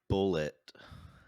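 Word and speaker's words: Bulleit: I have some Bullet whiskey, Bullet bourbon. bourbon. I don't. Is it pronounced Yeah.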